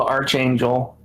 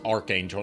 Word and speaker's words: Archangel: It's Archangel, not Archangel. Archangel. It's spelled arch, but it's pronounced arc.